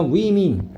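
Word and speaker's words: women: 위민. 그지? 자, 선생님 뭘까? 여기 이 대신 에이스잖아? 그러면 우먼이죠, 우먼. 맞니? 이건 단수겠고, 얘는 뭘까? 발음도 조심하시고, 얘는 여성들이라 뭐라고? 복수다 이 말이야. 발음은 위민입니다, 위민.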